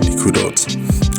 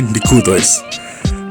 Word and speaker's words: Nikkudot: silly ways of remembering these very important Nikkudot, or in Ashkenazi, Nikkudos.